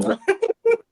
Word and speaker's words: Chonco: Chonco.